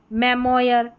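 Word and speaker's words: memoir: तो ज्यादातर इसको ऑयर करके प्रोनाउंसिएशन इसका निकल कर आएगा। और करके भी निकल कर आ सकता है। लेकिन ज्यादातर आप देखेंगे तो ऑयर करके इसको प्रोनाउंस कर पाएंगे आप सही तरीके से। जैसे यहां पर है मेमोयर मेमोयर ओ आई आर सभी में लास्ट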